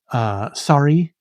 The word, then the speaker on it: Sari: Sorry, which is, she uses it as the English word sorry, but as you can see, it is pronounced, or is spelled Sari.